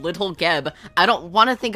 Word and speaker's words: Geb: a hard G, or Jeb with a soft G? It's definitely not Jeb. It's definitely Geb.